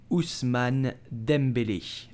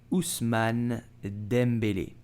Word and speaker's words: Ousmane Dembélé: and he's very good so how do you pronounce his name you will say usman dembele usman dembele so dembele have to e with an accent